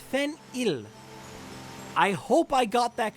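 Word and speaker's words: Fen-Yll: two eyes I have been told it is pronounced Fen I hope I got that correct then ill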